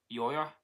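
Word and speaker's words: Győr: The 21's career began with the Hungarian side Eto FC Yoya Yok Yoya yeah that's pronounced in Hungarian before a year the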